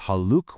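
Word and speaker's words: حالكَ: You use haluk when speaking to a male and haluki when speaking to a female. It's a small change in sound, but believe me, it's a very important one.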